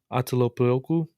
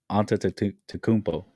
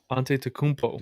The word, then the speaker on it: Antetokounmpo: Of the I don't know how to pronounce their last name, Atelopoulos, something like that. Their last name, Giannis Antetokounmpo. Antetokounmpo.